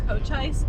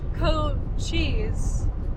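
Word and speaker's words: Cochise: I also wanted to add that I've been pronouncing Cochis and Mcllori wrong. It's actually co cheese and mlowry.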